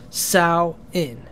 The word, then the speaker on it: Samhain: and discuss some ways that we celebrate SN sawin it's spelled Sam Hayne but it's pronounced sa in it's a significant Festival in various Pagan and